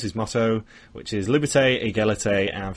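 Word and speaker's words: égalité: know them know that if there's an accent above the e at the end of the word in French you pronounce the e will under the start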